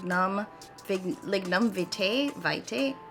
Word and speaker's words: lignum vitae: this like num big lignum vitae vitae hold on i'm gonna get the right pronunciation okay it's lignan verti so these are the